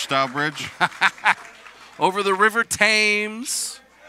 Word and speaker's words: Thames: bridge over the river thames don't you dare pronounce that h yeah not dare pronounce